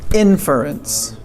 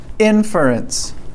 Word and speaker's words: inference: on those right so pronunciation here it's strong at the beginning right inference okay so wait inference inference yes much better at the end remember